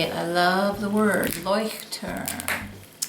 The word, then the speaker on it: Leuchtturm: This is my Leuchtturm, and now that I figured out how to say it, I love the word Leuchtturm. Leuchtturm, 1917.